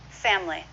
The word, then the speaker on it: family: native speakers usually do family two syllables simple family what about vegetable